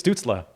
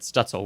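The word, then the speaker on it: Stützle: i said that right i think it's stutzla right i thought it was student no it's definitely not student is it not student we definitely pronounced it wrong on the episode that's for sure yes we did we left it up we did it uh yeah you said stutzel which i actually i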